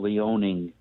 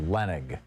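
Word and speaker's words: Leonnig: reading a book that was written by carol leoning who is an investigative reporter for the washington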